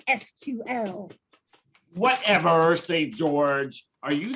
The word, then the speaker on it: SQL: I'm starting out with a SQL injection, which should give your system a major infection. Yes, my dear hacker, that's all very well, but everyone knows it's pronounced SQL.